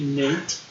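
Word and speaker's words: Nyate: Nate. Fucking A. No, it's N-Y-A-T-E. Yeah. It's Nate.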